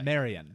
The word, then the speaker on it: Marion: Ann maid Mary yeah but Marion O'Meara it's pronounced Marion Marion I made know yeah okay Marion Reneau